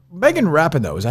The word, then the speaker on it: Rapinoe: Like Megan Rapinoe, is that how you say her name? Rapinoe?